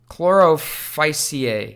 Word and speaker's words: Chlorophyceae: I can never pronounce this word. Chlorophyceae, yeah.